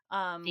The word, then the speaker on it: Faerie: This book is apparently in a genre known as, like, fairy, spelled Faerie, fairy, which very. is, like, I think an old English kind of word that refers to like fairy mythology, um, which I think can encompass a lot of mythical creatures.